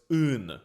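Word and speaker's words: în: Like the word in Romanian is in. Well, that's convenient. But the I has a hat on it, so it's un with that deep grunt at the front.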